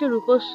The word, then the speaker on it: রূপস্য: বলি ঠিক সেরকম ভাবে দন্তস এর উচ্চারণটা হবে ইংরেজি স এর মত অথবা সার গামে সা